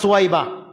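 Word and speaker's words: ثويبة: আবুল আহাবের একটা দাসী ছিল, সে দাসীর নাম ছিল সুয়াইবা, সে সুয়াইবা থেকে শুনছে, বা সুয়াইবা, আপনারা যাকে বলেন এটা উচ্চারণ হচ্ছে সা, এই জন্য আমি বললাম সুয়াইবা।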